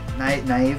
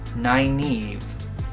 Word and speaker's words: Nynaeve: Naive. And I'm like, I read it. N-Y-N-A-E-V-E. Oh, goodness. Nynaeve.